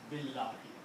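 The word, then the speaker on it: بالله: When you combine these two, you do not pronounce alif. Okay? So you pronounce Billahi.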